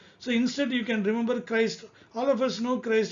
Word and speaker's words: Christ: Then Christ, see here the same CH, but here it is coming as K sound, Christ.